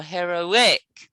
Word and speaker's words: heroic: many syllables yes now where's the stress listen to it again heroic where's the heroic is it heroic or heroic or heroic heroic heroic heroic that's right good good okay let's